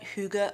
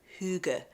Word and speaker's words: hygge: even quite correctly but it's spelled h y g g and it said Huga or hug I can't even quite say the vowel sound but that's what it